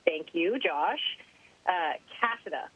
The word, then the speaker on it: Cassada: Cassada, right? I'm worried. That's right. That's the right pronunciation. And no, you've got it. I get Cassada a lot, which actually sounds cooler, and there's no paperwork involved.